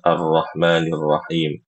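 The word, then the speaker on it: الرحمن الرحيم: Kesalahan yang sering terjadi itu adalah ee ketika membaca arrahmanirrahim huruf r-nya itu terlalu banyak getarnya ya. Terlalu banyak getarnya. Contohnya arrahmanirrahirrahim. Arrahmanirrahim. Terlalu banyak getar.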